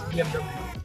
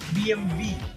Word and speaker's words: BMW: Even I was saying it as BMW, but then I came to know that Germans don't say W and it is BMW. You should pronounce it as BMW.